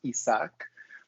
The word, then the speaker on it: Isaac: isaac i go as isaac my name my name is spanish pronounced isak but i find that isaac just a little bit easier for everyone so isaac i'm